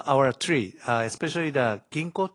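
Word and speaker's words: Ginkgo: tree uh especially the Kinko tree is am I correctly pronounce g g Ginko okay uh that you know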